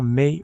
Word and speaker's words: Mai: perdrait non seulement Bulma, mais il perdrait peut-être éventuellement May aussi ou May plutôtin. Je dis May depuis le début mais je pense que ça se prononce ma.